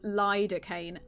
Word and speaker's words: lidocaine: I think you asked about the pronunciation. It is lidocaine.